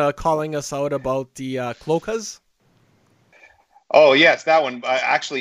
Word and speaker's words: cloaca: The word cloaca has three syllables. Cloaca. Cloaca. The pronunciation is cloaca.